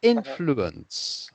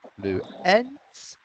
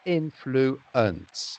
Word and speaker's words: influence: going up like in blue ends it's influence so it goes down at the end like most words in english and instead of going